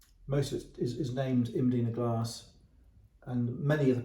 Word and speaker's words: Mdina: this is imina glass otherwise we we English would call it Medina glass because you can't understand the pronun pronunciation imina we can't read it so it's Medina glass imina glass MD i n a named after the Fortress